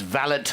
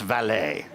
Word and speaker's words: valet: that he said we're not parking cars it's valid not valet so that was the first lesson but no